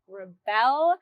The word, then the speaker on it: Rebelle: I'm also on there showing you all of the special, unique things that you can find at Rebelle.